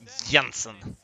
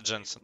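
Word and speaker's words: Jensen: нужно на своем стриме иногда троллил и говорил янсон хотя он сам знает что ну его имя правильно читается джинсов но familia точнее иди сюда мне т.п.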